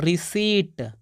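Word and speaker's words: receipt: है इसको पढ़ते दोस्तों रिसी रिसी यहां पर प का कोई भी उच्चारण नहीं हो रहा है यानी आप लोग ख्याल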